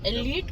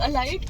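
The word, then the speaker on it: elite: हाँ, एलीट को लोग एलाइट क्यों बोलते हैं? बस वो यहाँ पर प्रोनाउंसिएशन, हम भी एलाइट बोलते थे जब तक हमें पता नहीं चला एलीट क्या होता है।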